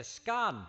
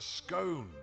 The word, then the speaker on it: scone: means unique to America in Britain we're still fighting Wars over how to say this it's a scun it's a scone but sometimes American English